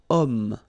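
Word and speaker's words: homme: possibility here we've got om man okay uh but then o is here we've got this ash letter remember Ash is not pronounced okay so you've got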